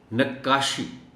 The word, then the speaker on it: نقاشی: ساتھ پڑھا جانا چاہیے۔ نقاشی، شد کا معاملہ ہے، کاف پر شد ہے اور شد کے ساتھ ہی اس کو پڑھا جانا چاہیے۔ جیسے خطاطی ہے، اسی